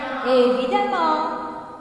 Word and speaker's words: évidemment: Évidemment. Puissant. Très bien. Bon, alors, nous faisons la remarque, c'est-à-dire la terminaison en E2N-ENT se prononce amant et non pas eumant.